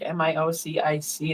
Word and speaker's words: Miocic: He's also, I think, a firefighter in Cleveland, but Stipe Miocic um Nike spells his name like M I O C I C in our language, but it's pronounced Miocic.